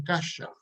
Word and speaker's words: caixa: de que en Gallego los hablantes del Gallego dicen cacha caixa y lo escribe con qué con x pero en español lo escribimos con otra y pronunciamos caja y de repente me